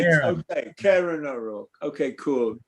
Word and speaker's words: Kieran: Well, yeah, I do a Welsh pronunciation, don't I? That's how it would be pronounced if it was in Welsh.